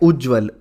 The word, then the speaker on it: उज्ज्वल: एक और शब्द है उज्जवल उज्जवल तो उज्जवल में ज पूरा नहीं आता है ज दो